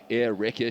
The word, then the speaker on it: Erika: name is spelt, to the first part being air, as in the air you breathe, and the second part being Rekka, as in wrecking ball.